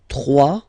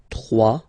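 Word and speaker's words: trois: 3, final S not pronounced, 3.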